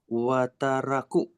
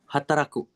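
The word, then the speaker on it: 働く: Nah ini, Wataraku. kalau di depan itu nggak pernah wa bacanya. Hai, Oh iya, iya. Hataraku.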